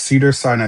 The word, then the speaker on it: Cedars-Sinai: Yes, Cedars-Sinai, they are looking for a staff scheduler.